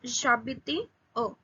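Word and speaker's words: j'habite à: It is pronounced as j'habite a.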